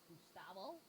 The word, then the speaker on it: Gustavo: G-U-S-T-A-V-O. Or I think it's pronounced Gustavo.